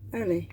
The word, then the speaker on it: Earl Lee: When pronounced, it always came out Early Watson, who was a